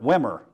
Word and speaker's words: Wimmer: run on two hits deacon winner wimmer pronounced like winner ironically gets the win in